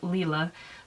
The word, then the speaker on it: Lila: It is pronounced Lila, I guess. I know I got told that I pronounced it wrong in my video, but I did make an annotation in that afterwards I found out that yes, it is indeed pronounced Lila.